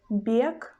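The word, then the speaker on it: бек: But in the word bek, bek, bek, we pronounce letter B as a soft sound b, b, bek, b, bek.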